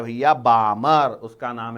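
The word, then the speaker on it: Balmer: पहला साइंटिस्ट कौन था उसका नाम है भैया बामर उसका नाम है भैया बामर मैंने बोला वेरी गुड बामर अच्छा नाम है स्पेलिंग है बी एल एम ई आर बी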